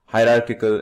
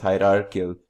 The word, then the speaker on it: hierarchical: Finally, we have, penultimately we have as our fourth example of inheritance called hierarchical inheritance. Pardon my mispronunciation, it's hierarchical inheritance.